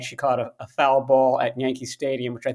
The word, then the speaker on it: foul ball: but he pronounces it foul ball. Uh-huh. Somebody who obviously isn't familiar with baseball, we pronounce it foul ball. It's like Right. both words are emphasized equally.